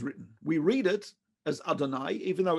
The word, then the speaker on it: Adonai: Now, you might know that we Jews do not pronounce that name ever. Instead, we say Adonai, which means my God or our God or God.